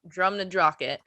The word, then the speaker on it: Drumnadrochit: I wrote that out in syllables to make sure I said it right. Drumnadrochit.